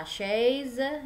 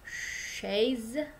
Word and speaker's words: chaise: Kemudian la chaise dibaca gitu. C dengan H itu jadi show ya, jadi show. Short gitu ya. Jadi la chaise.